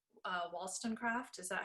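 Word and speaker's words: Wollstonecraft: this story of and i'm gonna pronounce her name wrong uh wallstonecraft is that how you say it yeah williston craft yeah okay i was like wow all of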